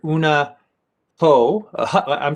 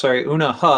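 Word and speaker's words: Eunha Hoh: Una Ho. Una Ha, I believe is the proper pronunciation.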